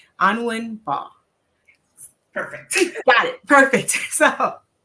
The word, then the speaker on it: Anwin Mbah: Today's topic is profit pathways, mastering business wealth with, and correct me if I'm wrong with the pronunciation of your name, Anwin Mbah.